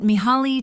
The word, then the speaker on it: Mihaly: About Mihaly Csikszentmihalyi. Mihaly Csikszentmihalyi, pronounced Miha Csikszentmihalyi, was a leading professor of